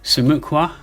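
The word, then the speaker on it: 수묵화: this it's Su uh let me pronounce it properly sumuka now there's Mina you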